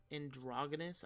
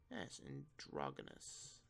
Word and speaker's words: androgynous: Because Androgynous, I think, is exactly how it's pronounced now that I'm looking at it. Androguy. Yo, my thumb fucking hurts, dude. N-O-U-S. Androgynous.